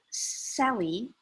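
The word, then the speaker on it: Selye: life it was published in 1956 but dr sally that's how we pronounce it talks about stress from physiological perspective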